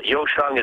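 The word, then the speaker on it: 优生: have perfect children uh yosang is how you say it in Chinese they want Superior birth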